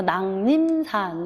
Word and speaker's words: 낭림산: 궁이 들어가야 될 것이고 낭림산 이것도 비음화 일종이죠. 한자어 받침에 기역 미음, 비읍 이응 뒤에 리을은 미은으로 발음하는 비음화가 있습니다. 그래서 한자어고요. 이응 뒤에 리을이니까 비음화, 니은 얘기죠. 그래서 낭림산 이렇게 발음이 돼요. 이건 장음이거든요. 낭림산.